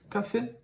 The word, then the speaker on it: café: na palavra café ã café você pode ver aqui o som da letra A é o mesmo e o som da letra e é o e porque tem o sinal lá em cima Então vamos lá o